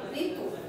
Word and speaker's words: ঋতু: ঋতু শব্দটি শুদ্ধ উচ্চারণ রি তয় রসুকার তু ঋতু।